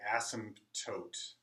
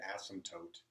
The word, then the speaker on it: asymptotes: p t OT e asymptotes you don't actually say the P so this is another case where the P is silent asymptotes f has a vertical